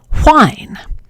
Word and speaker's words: whine: But for some English speakers, the second word, the one that's spelled with a WH, has a voiceless sound at the beginning, so it's pronounced whine.